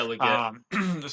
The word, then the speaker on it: Legette: I think that the number 32 pick overall with the Carolina Panthers, Xavier Legette, is that how you pronounce his last name? Yeah, Leggett.